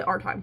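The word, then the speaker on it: Aretime: It's spelled a r e t i m e. So I say r time whatever.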